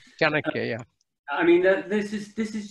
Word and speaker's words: Chanakya: Chanakya. Chandrakya. Chanakya, yeah.